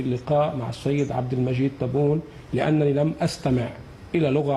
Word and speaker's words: تبون: شوفوا هذا الصباغ كيفاش كينطقها بلا تغليط، كيقول حرف التاء كما هو تبون، والرئيس ديالو راكم عارفين شنو قال. وهذا دليل على ان رئيس لبنان كان كيقصد ويتعمد يغلط السميه ديال تبون وبدلتها بالطاء إهانة لفخامته.